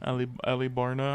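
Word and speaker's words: Alubarna: That's how it's pronounced. Yeah. Well, that's how they said it in the dub. Oh, okay. Alibarna.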